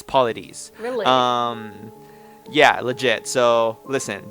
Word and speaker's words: Paulides: It's not Paulides, so I think it's Paulides.